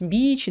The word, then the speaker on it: beach: одинаково на самом деле разница в произношение у нас существенное то есть Beach длинный звук такой ближе к и Beach i went to